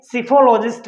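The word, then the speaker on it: psephologist: It means totally जो analysis होता है उसको, उसके स्टडी को हम क्या बोलेंगे, सिफोलॉजिस्ट बोलेंगे। क्या बोलेंगे, सिफोलॉजिस्ट बोलेंगे। देखिए इसमें पी साइलेंट रहेगा।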